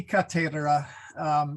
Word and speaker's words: cathedra: it it should be katera the th okay the th should be pronounced like thomas you know um part